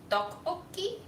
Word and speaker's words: tteokbokki: I've also been told that it's pronounced more like dokbokki, like it with a D.